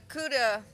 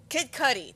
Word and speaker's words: Kid Cudi: don't know we of course have kids uh Cuda oh I can never say his name kid uh Kid Cudi there we go I don't want to say